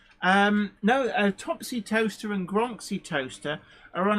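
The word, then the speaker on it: Towcester: I'm saying it wrong on purpose well um Toaster What leester c s is pronounced Topsy did grow up in in toaster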